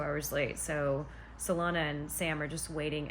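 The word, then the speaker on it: Celaena: her name I know some people call her Selena or Selena I don't know according to Sarah's video it's salana but I'm also having trouble saying that so if I keep changing the pronunciation just know that the correct name is salana so they've traveled to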